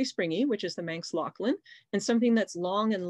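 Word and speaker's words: Loaghtan: the manx lachlan and yes you say it lachlan not loten so you can see how it's spelled there on the label it's not actually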